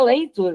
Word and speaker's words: Latour: reduzir cabeças, do Latour, se escreve Latour, mas se pronuncia Leitur, né, em francês, não sei pronunciar direito em francês.